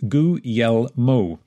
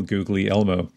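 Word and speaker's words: Guglielmo: fluency in the language a decent approximation to the correct pronunciation is gu yel Mo it's not perfect but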